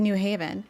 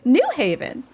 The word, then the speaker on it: New Haven: Unless you live around here, you don't know how to properly say New Haven. The stress is on Haven, not New.